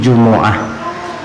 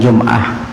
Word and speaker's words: جمعة: Jadi Jumu'ah, hari Jumu'ah, Jumi'ah, Juma'ah dan Jum'ah. Asal jangan Jumahat. Kalau Jumahat kedada itu. Paham? Jadi anna yaumal Jumu'ati, didammahkan huruf mimnya lebih fasih daripada disukunkan. Cuman kebanyakan di daerah kita membacanya sukun, padahal afdalnya itu dibaca dhammah, Jumu'ah. Ya, Jumu'ah. Keempat-empatnya boleh, Jum'ah, Jumu'ah, Jumi'ah dan Juma'ah, tapi Jumu'ah itu yang paling fasih.